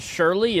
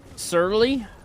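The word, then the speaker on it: surly: Is it not Shirley? It's like sirly.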